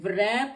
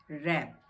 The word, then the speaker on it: wrap: अब R से पहले W है तो ये रैप नहीं है, ये रैप है, रैप।